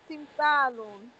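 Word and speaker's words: تمثال: Look, you are saying Sha. Don't say Sha. Sa. Timsalun. Good.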